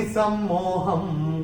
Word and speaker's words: सम्मोहम्: तीसरे चरण में ह के ऊपर अनुस्वार चरण की समाप्ति पे आ रहा है, तो इसका उच्चारण केवल और केवल म ही होगा। सर्वभूतानि सम्मोहम्, ये ऐसे करके आएगा।